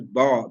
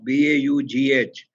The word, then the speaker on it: Baugh: I pronounce it as Baugh, B-A-U-G-H, but maybe it is Baugh. English is very notorious, you know, about its spellings and pronunciation.